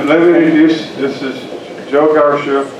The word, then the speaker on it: Carcia: this is a joke our chef pronounced like Marcia right yes just don't call